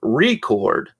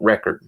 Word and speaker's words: record: Record for your dad's old Beatles album, or record. They meant record, but they put an emphasis on the re.